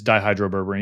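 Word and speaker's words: dihydroberberine: with how do you say it die it's dihydro berberine yeah just super appropriate yeah okay so no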